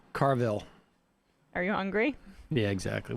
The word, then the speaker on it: Carville: Don't James ask Carville. him. They sort of they just wheeled this guy out. Of Did all you call the him Carvel? Carville.